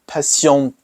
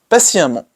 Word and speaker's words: patiemment: Well, for that one, you don't say patientement, non, pas exactement. Vous dites patiemment. Patiemment avec deux M. So instead of even pronouncing like the T, you replace it with another M, double it, and then add D-E, N-T, patiemment.